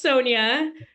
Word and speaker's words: Sonia: I want to say my name is pronounced Sonia um but no you did